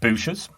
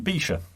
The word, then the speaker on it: Buescher: the uk they well we've always referred to them as bucharest bucha yes now we're well aware uh that some folks call them boosters and some folks call them bisha um brusha busha there's probably other pronunciations we're not even aware of i know that